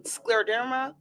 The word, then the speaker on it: scleroderma: We're going to be talking about um scleroderma month.